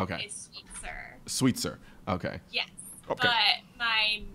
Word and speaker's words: Sweetser: So, my maiden name is Sweetser.